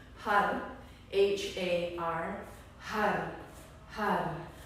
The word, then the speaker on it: Har: Har, H-A-R, har.